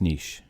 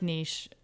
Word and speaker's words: niche: always wondered if it was niche or neat niche it's niche they've both been used commonly enough that they're becoming more easily accepted okay both of them i like niche niche is obviously the very anglophone version of it okay so hopefully you